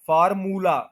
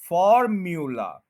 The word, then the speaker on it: formula: भी वही प्रॉब्लम है, हम कहते हैं फॉर मू, मूला, फार्मूला, ये गलत है, मू नहीं है, म्यू है, म्यू, फॉर्म्यूला, फॉर्म्यूला, फॉर्म्यूला, stress जो